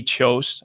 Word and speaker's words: Kjos: does really handsome ads his last name is spelled kjos he has a company called chose outdoors he's a fantastic photographer